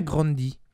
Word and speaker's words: Grande: grande des mets en ferait son nom se prononce n'ont pas grande mais grandit donc on devrait dire à rihanna grundy de dire à venir à rihanna grundy mais